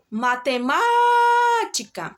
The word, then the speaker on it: matemática: olha a palavra matemática qual a sílaba mais forte da palavra matemática qual a sílaba tônica da palavra matemática vamos chamar a palavra matemática matemática Observe que é um